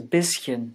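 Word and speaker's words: bisschen: has a parallel fricative so does bischen which means little or small bite like the two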